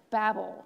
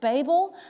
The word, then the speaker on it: Babel: of the Tower of Babel. Now, some people pronounce it Babel. I'm going to say Babel because that's what I grew up hearing.